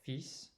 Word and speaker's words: fils: So fils, so you do pronounce that S.